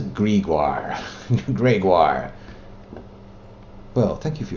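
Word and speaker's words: Greagoir: Why have they gone to all the effort of giving these elaborate spellings of names just to pronounce it Gregor? That says Gregoire.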